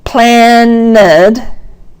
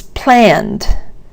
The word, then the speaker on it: planned: Planned may look like it has 2 syllables, but it's not planned, it's planned, which is maybe a long beat, but still only one beat.